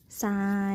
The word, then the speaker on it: ทราย: กล้ํา ไม่ แท้ ที่ ออก เสียง พยัญชนะ ทร เป็น เสียง ซอ เด็ก ๆ มา อ่าน ตาม ครู ต่าย ที ละ คำ กัน เลย นะ คะ อ่ะ มี ทราย อ่าน ว่า ทราย ขอ ทราบ อ่าน ว่า